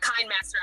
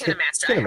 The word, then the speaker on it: KineMaster: It's not KindMaster. I think KineMaster. It's KineMaster. I saw that live stream. KineMaster. It looks like KindMaster to me, but it is KineMaster.